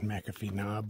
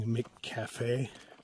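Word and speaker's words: McAfee Knob: tooth Tinker cliff and mcafe knob which a lot of them keep pronouncing MC Cafe yeah um they're referring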